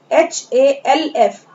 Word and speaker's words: half: Now spelling of half, HALF, half, in this spelling letter L is silent, इस spelling में letter L जो है वो silent है, इसे हम क्या पढ़ेंगे?